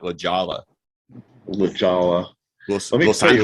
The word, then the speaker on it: La Jolla: La Jolla.